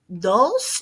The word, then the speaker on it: dos: on our pronunciation uno dos notice my dos is nice and soft i'm not doing a hard d i'm doing more like a th sound not trace we're not